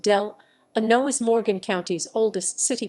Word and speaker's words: Delano: Delano Park, founded in 1887, the 28-acre Delano Park, pronounced Delano, is Morgan County's oldest city park, in continuous operation and an oasis in the heart of historic dɪ្keɪtə.